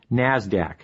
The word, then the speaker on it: NASDAQ: Stock Exchange nysse and the NASDAQ which is pronounced NASDAQ NASDAQ stands for the National Association of Securities